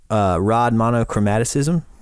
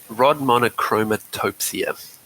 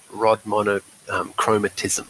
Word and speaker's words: rod monochromatopsia: And is it called, I may pronounce it wrong, is it rod monochromaticism? Yeah, it's rod monochromatopsia or rod monochromatism.